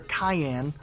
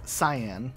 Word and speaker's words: cyan: though it's orchid and this color Cayenne like the pepper even though it's cyan and then if we